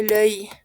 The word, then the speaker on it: l'œil: La pronunciación es difícil, sí, pero pueden pronunciarlo como un oi, pero no con una O abierta, sino como un œil.